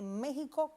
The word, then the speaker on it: México: Yasmina y es que esa X la pronunciamos como J. Hay otros dos topónimos que tienen esta misma característica y es el caso de Texas y el caso de Oaxaca. Uno en Estados Unidos y otro también en México. Y esta X suena entonces como J en esos tres topónimos arcaizantes, o sea, topónimos que en un pasado mantuvieron esa X etimológica y su pronunciación es como J.